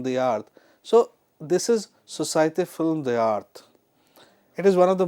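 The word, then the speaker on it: Société Film d'Art: Now the actual pronunciation of this word is society film the art which is as you can see on your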